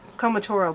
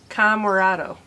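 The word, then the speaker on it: Comoroto: I always want to say Comotoro, but it's not it. It's Camarado.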